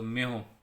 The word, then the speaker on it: mho: और ohm inverse को हम क्या बोलते हैं, उल्टी स्पेलिंग को उल्टा कर दो, म्यो, MHO, म्यो।